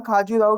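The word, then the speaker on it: खजुराहो: पहला जो क्वेश्चन है वो बोल रहा है कि right a few line on खाजूराहो temple. किसके बारे में बोल रहा है? खाजूराहो टेम्पल या खजूराहो टेम्पल, जिससे जो प्रोनाउंसिएशन होता है वो करना हमारे इधर ऐसा ही चलता है।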